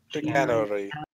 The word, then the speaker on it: chicanery: How do you pronounce that? Chicanery.